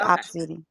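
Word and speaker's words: Opcity: me if I'm wrong is it obsidy I think it's spelled o p c i t y yeah I may not yeah that's how you spell it it's just opposite yeah okay now people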